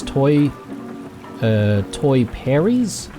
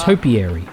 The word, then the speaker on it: topiary: It's quite nice over by those toy Perries? Bah. Mum, it's Hap pronounced banging, what? topiary.